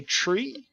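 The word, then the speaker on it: three: as I understand that that is the correct way to say the number 3 when you're talking over the community over with the FAA you say tree and if you are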